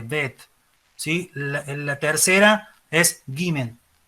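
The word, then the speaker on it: בית: La segunda es Bet, casi cortada la T, Bet, ¿sí?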